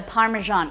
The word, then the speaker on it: Parmesan: American pronunciation for, I hate the Parmesan, it's Parmesan.